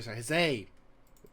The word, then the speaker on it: huzzah: Recently it was discovered that the word huzzah was actually the incorrect pronunciation of that particular word. It was actually said huzzay in the older days, so I need to try and remember to say the word huzzay.